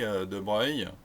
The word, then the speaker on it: De Broglie: Ça se prononce De Broglie, ça s'écrit De Broglie.